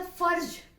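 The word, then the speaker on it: फ़र्ज़: इसका फर्ज, फ भी और ज भी दोनों को ज्यादा स्ट्रेस दे करके पढ़ना है।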